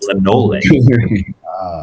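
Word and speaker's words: Lemngole: I pronounced it the way that she told me how to pronounce it. It's Lemnole, without the G.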